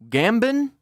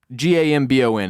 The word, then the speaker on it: Gambon: dragon in sad news Barrett yes sir Michael gambin g-a-m-b-o-n how would you pronounce that Gambon gambin uh Gambon Gambon Michael Gambon Michael Gambon the